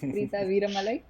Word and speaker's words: Preetha Veeramalai: Yeah, you did pronounce the name right. Almost. It's Preeta Viramalai, joining from India.